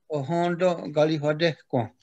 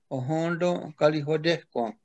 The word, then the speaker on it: Ohenten Kariwatekwen: Actually, Thanksgiving address isn't really the proper way to say what we're talking about. In the Mohawk language, we call it Ohondo Galihodehko. Ohondo Galihodehko.